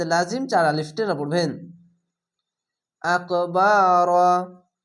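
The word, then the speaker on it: أكبر: চার আলিফ টেনে পড়বেন আকবার এখানে র হচ্ছে কেন রা কেন হচ্ছে না মোটা অক্ষর র আকার উচ্চারণ হবে না আকবার মিন এখানে ফাগুন্না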